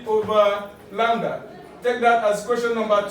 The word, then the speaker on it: lambda: The wavelength here, we use the Greek symbol lambda, pronounce it lambda, okay, to represent wavelength, while we use also the Greek symbol nu to represent frequency.